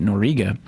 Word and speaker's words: Noriega: It was Manuel Noriega, that's how you say it, Noriega, was convicted in Miami